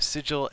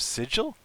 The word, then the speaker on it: Sigil: Sig, like Sigourney Weaver.